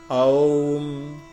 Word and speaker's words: ओम: अ उ म से बना है, अ उ म ओम, ओम शुद्ध उच्चारण ये होता है।